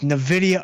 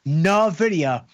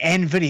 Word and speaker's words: Nvidia: on the line tomorrow after the bell with Nvidia earnings, which again is correctly pronounced Nvidia. Don't let Jensen Hang tried to trick you into saying Nvidia.